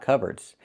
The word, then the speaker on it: cupboard: It looks like cupboard, but it's not pronounced that way. It's pronounced cupboard. So the P is silent. Cubard. Use the sound like burger.